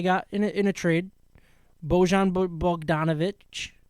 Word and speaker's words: Bogdanovic: Bojan Bogdanovic, right?